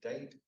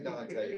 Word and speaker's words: Dante: town of date Virginia now it is spelled Dante but you do not say Dante you can go there you got to say Nate because if you say Dante they know you're not from there and at that point